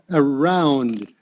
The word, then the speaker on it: around: just a little bit around okay in verse 49 uh you're a little bit soft maybe on the d okay uh around yeah